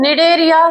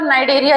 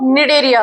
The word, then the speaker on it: Cnidaria: इन जीवों को निडेरिया सी साइलेंट है इसमें। ठीक है? निडेरिया फिर कहीं-कहीं पर नाइडेरिया लिखा गया है। जैसे कि एनसीआरटी की जो बुक आई है उसमें नाइरिया लिखा रहा है। लेकिन मैं इसका जो सही प्रोनाउंसिएशन होता है वो निडेरिया होता है।